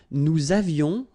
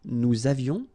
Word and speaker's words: avions: Nous avions, little liaison, final S not pronounced. Nous avions.